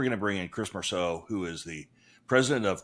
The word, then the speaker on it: Mursau: Chris Mursau. Mursau. Perfect. Mursau.